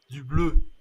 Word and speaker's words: bleu: And the pronunciation is Du bleu.